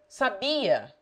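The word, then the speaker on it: sabiá: The accent may make it sabia, a learned woman. Sabia, I knew or he knew. Or sabia, the Brazilian robin.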